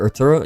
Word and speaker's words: Artura: I'm not a huge fan of this car, like the McLaren Artura or Art Turo. Yeah, that's how you pronounce it.